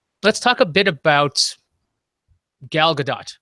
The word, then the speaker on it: Gal Gadot: Let's talk a bit about Gal Gadot, because that's how you pronounce it.